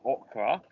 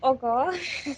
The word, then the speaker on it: Olga: as i should be i'm going to say okra it is your type no i didn't say